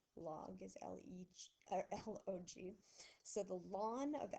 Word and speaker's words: ln: says ln of x so i'm going to say it like the word lawn and what it actually